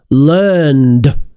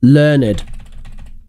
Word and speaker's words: learned: normally correct pronunciation is learned learned learned not learned strange pronunciation only for the adjective Dan says rich is